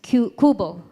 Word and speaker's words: QBO: The spelling is QBO, right? So, but we pronounce it as Kubo, like Bahay Kubo.